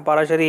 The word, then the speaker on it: पाराशरी: मेरा नाम पाराशरी है, पाराशरी। तो पाराशरी में PARASHARI इसकी स्पेलिंग है।